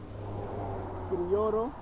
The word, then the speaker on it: Criollo: Criollo. Creole. Brutus. Bread. So it's Criollo Brutus. Criollo. Criollo. Criollo. Criollo. You have Brutus. To roll your tongue and get Criollo. Brutus.